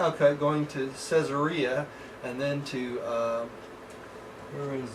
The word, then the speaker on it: Caesarea: Oh, Caesarea. I'm sorry. It's like Caesar, Caesarea.